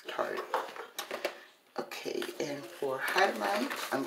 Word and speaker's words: Tarte: Yeah, it's Tarte.